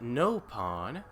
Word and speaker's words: Nopon: You pronounce it Nopon. Over here, we say it with a short vowel.